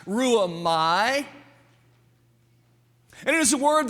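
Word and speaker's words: ῥύομαι: Very quickly, that word in the Greek is pronounced ruamai.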